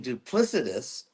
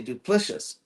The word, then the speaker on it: duplicitous: So instead of saying duplicitous, he would say duplicious.